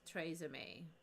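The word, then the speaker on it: TRESemmé: YouTube their sponsor was TR shampoo pronounced Tre it was pronounced tra M yeah it was TR is it not trm anymore I definitely remember it pronounced tra so if that's different yeah no it was 100% for sure for sure tra May okay all right so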